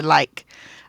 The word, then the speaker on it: like: remember there's a m there's a silent E so it changes this from lick to like I like to blank